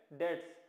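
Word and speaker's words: debts: बी यहाँ silent होता है, इसे पढ़ेंगे बैड डेट्स।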